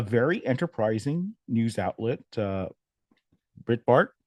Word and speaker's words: Breitbart: enterprising news Outlet uh Brit Bart is that am I pronouncing it right Breitbart Breitbart yeah yeah picked up on